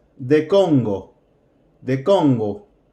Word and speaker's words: Congo: name sharra it's the Congo the combo make sure that o Congo Congo good we're going to replace the name with she age' a is the Congo a is the Congo